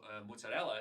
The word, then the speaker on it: mozzarella: When I came down here, people say ricotta, and I was like, these people don't know how to talk. Well, it turns out I was wrong. Ricotta is the right way of pronunciation, and mozzarella is correct. We always say mozzarella.